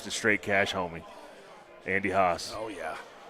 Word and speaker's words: Haas: The homage to Straight Cash Homie, Andy Haas. Oh, yeah. Which rhymes with Randy Moss, who coined that.